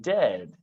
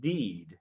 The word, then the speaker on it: dead: sounds like bird and dead it's said like bed not beed for goodness sake don't call it deed watch out for meat